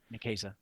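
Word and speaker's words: Nicieza: Is that how you pronounce it? Nikesa. Nesa.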